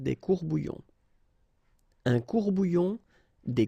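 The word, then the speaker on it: courts-bouillons: Un courbouillon, and then if you want to put the plural form, well, same rule, S, S, you don't pronounce it, des courbouillons. Un courbouillon, des courbouillons.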